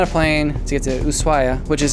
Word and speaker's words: Ushuaia: Then we were on a plane to get to Ushuaia, which is how you pronounce it. It's spelled Ushuaia, but it's pronounced in Argentine Spanish, Ushuaia.